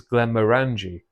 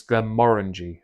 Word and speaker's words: Glenmorangie: Um although to be fair based on how it's spelled on the box, you'd think it's Glen Morani. Uh but apparently it's Glen Morangi.